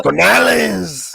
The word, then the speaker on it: Canales: But Dave Canales, he'll. I think Canales is gonna be a big. You gotta say it like this, Canales.